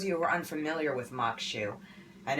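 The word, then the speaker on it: maque choux: mokshu, And it's pronounced Makshu. I want to pronounce things correctly for people. Looking at it, like a lot of Creole things, you might not want to pronounce it like that.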